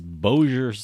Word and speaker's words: Bossier: I think I called I have to go on to YouTube just any video to see the pronunciation of certain words and that's how it's bossier's Bossier City Bossier City although we could have